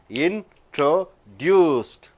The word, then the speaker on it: introduced: there in true reduced for ed you are not giving separate introduced three syllables introduced yes t c